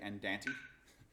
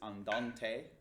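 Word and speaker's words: andante: dance or somebody will you might say and Dan T which is not how it's pronounced it's on Dante which means at a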